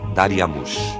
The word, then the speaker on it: Dariamush: Em acádio, Dário se pronunciava Dariamush.